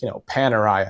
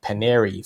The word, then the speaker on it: Panerai: So like Panerai, I think I was calling it Paneri for I don't know how many years, So yeah, Farr and Swit.